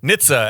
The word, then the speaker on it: NHTSA: So that's NHTSA, and it's pronounced NHTSA.